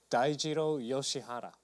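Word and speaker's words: Dai Yoshihara: his name you ready for this I'm ready Dao yoshihara okay so D he had some good showings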